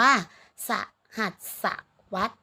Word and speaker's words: สหัสวรรษ: เวลา เป็น สัตว์ สหัสวรรษ คำ นี้ อ่าน ว่า สหัสวรรษ นะ คะ เมื่อ หมาย ถึง ช่วง